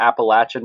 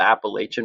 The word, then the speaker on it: Appalachian: a lot of pride in coming from the Appalachian Mountains not the Appalachian Mountains oh so if there's if there's a